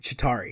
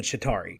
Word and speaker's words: Chitauri: who the Chitauri are how do you say to tari Chitauri is it with a